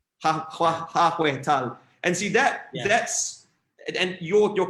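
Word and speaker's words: 하회탈: So I'm going to pronounce this incorrectly, but it's like hahe tal, the traditional Korean masks. Nice one. Yeah, nice one. Yeah. Okay, nice. Yeah, how do you pronounce it again? Accurately? 하회 tal. 하회 tal.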